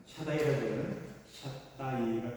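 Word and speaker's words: Shaddai: 앞에서 행하여 완전하라 오늘도 함께 엘사자리 물론 정확히 발음하면 샤다이라고 하는 샷다 얘기가 좀 정확한 표현이 됐네요 하기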